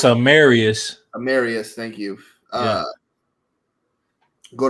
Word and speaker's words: Amarius: I got him taking Amaris Mims. I don't know how to say his first name. I saw his pro day. It's one of those names you hear, and I just forgot. It's Amarius.